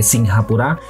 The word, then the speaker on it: Singapura: negara tersebut di mana Singapura yang sering juga diucapkan sebagai singhapura berasal dari kata atau